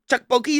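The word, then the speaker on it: tteokbokki: It's in Tukboki. Tukboki.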